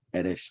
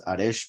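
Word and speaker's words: ערש: No, Eresh. Well, it appears as Aresh because of the fact that it's the last word, but it's normally pronounced Eresh, couch.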